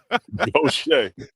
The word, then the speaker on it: Gautier: We're just gonna spell it like this and say it the way we want to say it down here in Mississippi. Go shake.